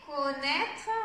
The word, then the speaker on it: connaître: Et connaître, on l'a vu tout à l'heure, c'est le son et, connaître, et, son et,